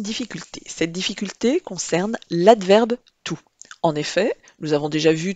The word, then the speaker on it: toute: Quand il s'accorde, tout se prononce toute.